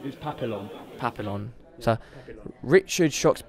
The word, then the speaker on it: Papillon: That might have been incorrect pronunciation, but it wasn't rude, was it? No, it was Papillon. Papillon. Yeah, so, Papillon. Richard Shox Papillones.